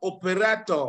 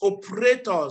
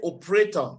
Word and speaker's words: operator: this word is not operator it's operator so you don't pronounce that e you just say operator okay not operator operator my engineer that